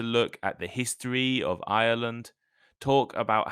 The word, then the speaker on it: Ireland: slightly different the country the name is Ireland has three syllables Ireland Ireland while Ireland the geography like in uh the Britain is an island Australia is an island only has two syllables Island so listen carefully